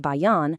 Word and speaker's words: Bayan: Then we have the BAAN platform, pronounced Bayan, which will seriously enhance our data capabilities.